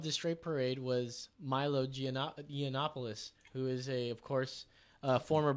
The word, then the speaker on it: Yiannopoulos: How do you pronounce his last name? Yiannopoulos. Yiannopoulos.